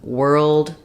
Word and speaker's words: World: just the UR vowel and World think about that like were Old World um even though it's